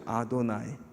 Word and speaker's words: 아도나이: 그러냐면 아도나이 그러죠 들어보셨죠 아도나이 아도나이를 유대인들은 어떤 단어 대신에 아도나이라고 발음을 해요 야외 야외 야외 대신에